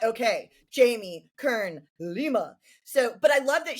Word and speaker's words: Jamie Kern Lima: Jamie Kern Lima.